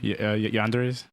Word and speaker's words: yandere: Yanderes?